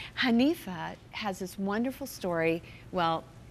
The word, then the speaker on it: Hanifa: Hanifa. Yeah. Hanifa, yes, you Hanifa.